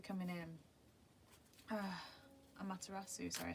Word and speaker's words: Amaterasu: We've got Amaretsu coming in. Amaterasu, sorry I said the name wrong.